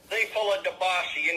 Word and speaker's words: Diafullah Dobashi: Diafullah Dobashi, like Diafullah Kaka.